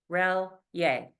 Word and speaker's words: Relyea: couldn't pronounce it, so they said Rel-Yay. Very phonetic. that that is amazing. Relyea.